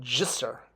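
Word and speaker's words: ḏsr: And it's pronounced jisser, j. The D is the J sound. With that line under it makes it the J.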